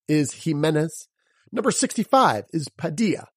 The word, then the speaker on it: Padilla: Number 65 is Padilla, like our friend Jorge Padilla.